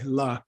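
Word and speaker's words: བླ: Yeah, and can you give me, Gibson, a common word that uses this BLA, la.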